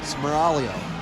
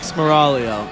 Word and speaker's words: Smaraglio: To be clear, I learned that the G is silent. That was a fun fact from the 3-speed. Smaraglio. Mike Smaraglio.